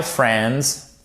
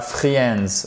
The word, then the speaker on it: friends: My friends, pas friends, ok? Vous ne prononcez pas cette lettre.